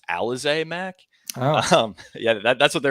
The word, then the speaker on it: Alize Mack: So I'm fine with, I actually believe it's pronounced Alize Mack.